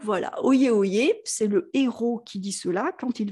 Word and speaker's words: héros: Notre héros qui n'est pas le héros, alors ça se prononce comme le héros qui fait des actes héroïques, hein, l'espèce de roi Arthur, Lancelot.